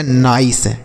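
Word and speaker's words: nice: तो इसे हम आई का उच्चारण करेंगे, यन से ना पढ़ेंगे, आई से लिखेंगे आई और सी ई से सौ, लिखा गया नाइस।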